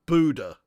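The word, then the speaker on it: Bodø: that's a good link Bodo is pronounced Buddha is it really there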